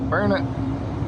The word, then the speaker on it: Burnet: I have no idea why it is pronounced Burnet. It is spelled B-U-R-N-E-T, not I-T. I would think it would be Burn, B-U-R-N-E-T, Burnet. But all the locals call it Burnet, B-U-R-N-I-T-U.